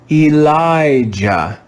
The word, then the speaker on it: Elijah: j in this word the syllable that the letter i is in is stressed so it's read with a long i sound let's read this word together elijah elijah elijah do you